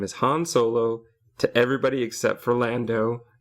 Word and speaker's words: Han Solo: have this argument with my friend who is convinced that it's Han Solo, even though pretty much everybody else pronounces it Han Solo. Lando very clearly calls him Han, though, and that causes a huge amount of confusion.